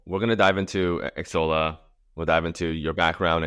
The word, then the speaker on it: Xsolla: So it's Xsolla. It's a hard X. Xsolla.